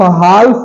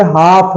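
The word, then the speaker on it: half: नहीं है काफ है एच ए एल एफ हाल्फ नहीं है ये हाफ है हाल्फ नहीं बल्कि हाफ है एल साइलेंट है ए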